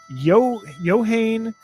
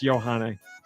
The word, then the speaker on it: Yohane: Yohane the Parhelion. Numazu in the Mirage. trying to get it out there. DD Yeah. Mega Doo-Doo. Did I say it right? It's Johanne.